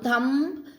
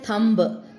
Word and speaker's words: thumb: Similarly, this is your thumb, right? Now thumb, you won't say thumb. It is thumb. B is not pronounced.